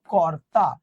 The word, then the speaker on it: কর্তা: করব, এটা উচ্চারণ করবো কর্তা। রেফ থাকলে সরাসরি আমরা কি নিয়ে আসলাম, র নিয়ে আসলাম।